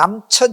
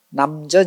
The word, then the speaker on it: 남전: 사실 이게 천자인데 발음을 할 때는 요걸 지우고 전이라고 읽어요. 이게 이제 몇 가지 그 이유가 있는데 하나는 이름을 부를 때 가급적이면 센 이름을 좀 피해 가요. 그러니까 남천 이렇게 읽는 것보다 남전 이렇게 읽으면 좀 부드럽죠.